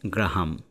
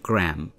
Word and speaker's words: Graham: আমরা বাংলাদেশে উচ্চারণ করি গ্রাহাম, কিন্তু আমেরিকান উচ্চারণে এটি হবে গ্র্যাম, GRAM, আর ব্রিটিশ উচ্চারণে এটি হবে গ্রেয়াম, আলেকজান্ডার গ্র্যামবেল।